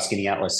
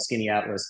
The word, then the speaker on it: Skaneateles: a prior discussion about Skinny Atlas. So yeah, I live in a town called Skinny Atlas. He and I moved there, as I said, over 10 years ago. It's spelled Skaneateles.